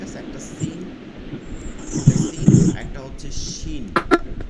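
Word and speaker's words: ش: আছে সিনের ক্ষেত্রে কোনো দাঁতের প্রয়োজন নাই বিপরীত শিন হচ্ছে জিহ্বার মধ্যখান তার বরাবর উপরে তালুতে গিয়ে লাগবে এরপরে উচ্চারণ হবে শিন শিন শিন আমাদের প্রথম দুইটা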